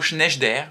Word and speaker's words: Sneijder: annonce qu'il prononce attendait après vérification il semblerait que l'on doit prononcer ce mot schneider ce qui n'est pas